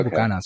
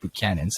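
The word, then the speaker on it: Buchanan's: use the the buchanans we say with ghanas but i guess it's pronounced but cannons which i didn't know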